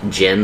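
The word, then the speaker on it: Qin: Q-I-N. Q-I-N. Yeah. That's Jin. So it uses, I think it's like the Chinese, I want to say like pinyin or something.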